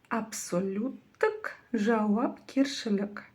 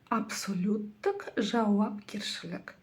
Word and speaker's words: Абсолюттік жауапкершілік: Первое слово от слова абсолют. Прочитать его вам, думаю, будет очень и очень легко. Затем к нему прибавлено окончание тк.